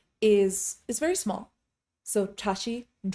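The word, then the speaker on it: བཀྲ་ཤིས: for example the word Tashi in Tashi de is actually a TR sound but people say Tashi they completely drop that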